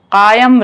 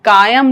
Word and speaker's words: قائم: رہے، بادشاہت تا دیر قائم رہے۔ قاف کا تلفظ سنتے جائیے گا، یہاں قائم نہیں ہونا چاہیے، قائم رہے۔ آپ کا سایہ آپ